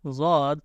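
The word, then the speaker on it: ض: So correct pronunciation of Dwad is pronounced from the sides of the tongue, touch the roots of upper molars.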